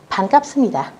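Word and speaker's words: 반갑습니다: các bạn, đó là chữ bờ mà gặp chữ nờ, chữ biệp mà gặp chữ niên. Các bạn phải đọc thành chữ mờ nhé. Và chúng ta sẽ đọc là sấp ni tà.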